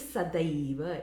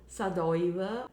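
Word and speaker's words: sadaiva: feels sadaiba sada eva it is sadiva it is not sadava or any other mispronunciation it is sadava sada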